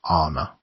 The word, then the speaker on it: Anna: she pronounced Ed it with a long first syllable Anna I am one of